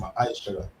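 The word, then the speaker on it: ma'aser: verse 8 to 10, means tenth in the Hebrew, and is pronounced ma'aishara.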